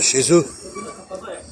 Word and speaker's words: chez eux: Alors qu'est-ce qui prononce dans tout ça? Qu'est-ce qui va provoquer le E? Ouais, qu'est-ce que tu veux? Il te l'a dit. C'est EU. EU, ça donne le E.